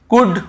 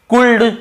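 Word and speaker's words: could: डी के पहले यदि एल है तो हमें उसे नहीं पढ़ना है। कुल्ड वुड शुड नहीं पढ़ना है। केवल कु ड व ड शु ड कुड वुड शुड यहां पे एल का रोल ही नहीं है।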